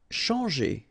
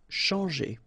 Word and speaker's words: changer: Changer. Okay, when you combine this C and H, you get the sound SH. And after that, you've got your nasal EN, CHANT, and then G. Changer.